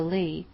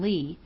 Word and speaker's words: Leigh: "I mean she was an actress, and used her stage name, Juanita Leigh, pronounced like it was spelled plain Lee, but she was mostly called Nita Leigh."